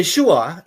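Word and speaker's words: Yeshua: di sini ya nah jadi yesua itu adalah kalau kita ngomong y e s h u a itu adalah cara pengucapan dalam bahasa Indonesia karena bahasa Indonesia itu punya alfabet a sampai z dan itu bunyinya semua yesua persis seperti orang Yahudi sama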